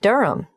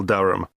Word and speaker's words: Durham: how do you spell Durham d u r h a m of course I should know that but it's just one of those names that sounds quite different from the way you spell it it is confusing I've